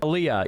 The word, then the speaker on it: aliyah: So, he can't do AIA or however you say it. Aaliyah. Yeah, Aaliyah. Thank you. Aaliyah. I can never pronounce that What you got